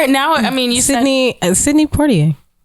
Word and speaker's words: Sidney Poitier: I mean, you Sidney Poitier. Like I don't say Poitier. Like I don't do the French pronunciation.